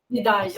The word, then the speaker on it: Ndiaye: Só para contextualizar, vocês estão falando, né, do ministro da Educação, o Pape, eu não sei pronunciar, Ndiaye? Ndiaye, ok.